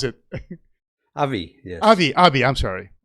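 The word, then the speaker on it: AbbVie: for beckham dickinson and global medical head for albert uh ba right how do you pronounce it avi yes abi abi i'm sorry about abby oscar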